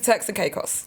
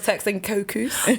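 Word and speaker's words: Turks and Caicos: So now know now that I've just learned how to pronounce that because I knew I was going to say it cuz I thought it was texting cuckoo.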